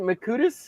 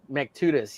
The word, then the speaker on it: Mactutus: But how do you say his last name? Is it Makutis? Is that how you say it? Yeah. Well, that's how Shelby Robertson always says it. No, it's Mactutus. Mactutus? Is that it? Yeah, Mactutus. Yeah, Shelby says it wrong.